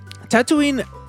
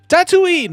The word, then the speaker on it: Tatooine: Tatooine Okay, I need to figure out how to pronounce this word correctly.